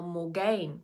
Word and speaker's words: Morgane: And how Morgane, the main character in the book, which is actually pronounced Morgan, but hey, she also used